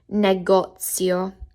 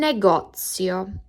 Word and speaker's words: negozio: A store or shop, un negozio. Un negozio. What I like about this word is it nearly sounds like the word negotiate, and that helps me think that I'm buying something.